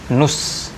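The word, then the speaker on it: نصف: Kadang orang Arab bilangnya enteng aja, nus, ya, dari kata nisf tapi diucapkan nus. Nus, jadi seolah-olah hanya nun dan sod saja, nus.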